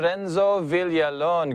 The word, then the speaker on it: Renzo Villalon: through the magic of technology we have sir renzo villalon good morning sir good morning kyle did i pronounce that right your name how are you